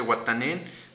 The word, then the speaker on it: Watanin: Yo, tú, él significa wa, WA y yo, tú, él, ellos, como se escribe, ellos se dice Watanin, WATANIN.